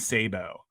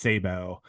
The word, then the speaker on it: Sabu: star named Sabo and it's spelled Sabu s-a-b-u just like the wrestler so yeah yeah uh I don't yeah and I'm almost I I'm almost positive it's pronounced Sabo I don't think it's stab here because I think because